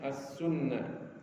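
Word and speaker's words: السنة: As-sunnah bid-dhammi dengan dhamma, wat tasydid dan ada tasydid pada nunnya, as-sunnah.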